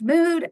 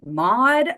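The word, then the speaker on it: MOUD: for opiate use disorder sometimes pronounced mood everyone in my facility calls it mod um but it just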